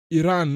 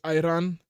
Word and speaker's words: Iran: It's pronounced Iran, not Iran.